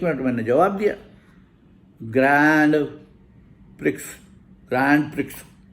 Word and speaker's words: Grand: आपको पता है कि अब जहाँ ग्रैंड होता है वो ग्रॉ है.